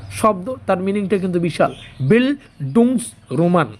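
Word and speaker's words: Bildungsroman: বিলডুং Roman উচ্চারণটা হবে।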